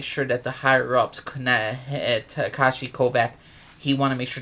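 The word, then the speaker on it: Takeshi Kovacs: Takashi Kovac Tak.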